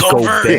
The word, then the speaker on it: Gobert: It's Gobert. Yeah, I love how he says Gobert. Yeah, the T is silent. Gobert.